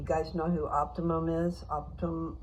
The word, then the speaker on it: Optum: We got changed to Optimum. Do you guys know who Optimum is? Optum, I'm saying it wrong.